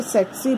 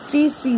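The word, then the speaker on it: tsetse: अगर हम इस एस को साइलेंट कर देंगे तो ये टेट्सी पढ़ा जाएगा, ठीक है। अगर हम इस टी को साइलेंट करेंगे तो ये सेट्सी पढ़ा जाएगा या सी सी भी पढ़ा जाएगा।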